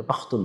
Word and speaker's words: পাখতুন: এটা মূলত উচ্চারণ ভেদে পাসতুন যে ভাষা আছে পাসতু যে ভাষা আছে এই পাসতু ভাষা যারাশিন লেহেজায় উচ্চারণ করে তারা তাদেরকে পাশতুন বলে। আর যারা খা লেহেজায় উচ্চারণ করে তাদেরকে পাখতুন বলা হয়।